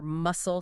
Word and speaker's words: muscle: Words like honest with the silent H or muscle, silent C, they have those classical roots.